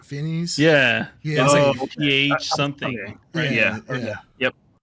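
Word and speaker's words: Fiennes: Voldemort or whatever yeah it's like fness right fines yeah pH something yeah yep I was thinking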